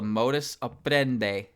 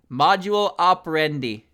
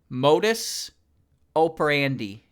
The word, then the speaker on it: modus operandi: I think this is what's called a modus operandi. Operandi? Module operandi. Modus operandi.